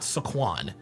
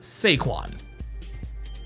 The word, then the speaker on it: Saquon: His name is not Saquon. His name is Sequin.